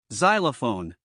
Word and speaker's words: xylophone: the word xylm xanthic Xerox Xenon zifo xylol xylophone zenth xeroderma used in the middle of the